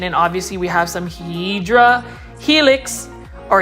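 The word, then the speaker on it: Hedera helix: obviously we have some hedra helix or hyera Helix somebody was telling me that's how you um pronounce it is a hyera helix but um anyways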